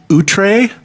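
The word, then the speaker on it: Outre: album this is the band utre which uh is spelled o u t r e and it's their album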